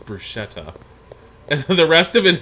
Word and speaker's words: bruschetta: of Italy or Europe, the term has been anglicized and is sometimes pronounced as bruschetta.